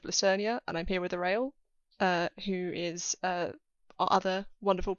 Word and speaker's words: Orael: the first question is, how do you pronounce Orael and Aonia? Like that.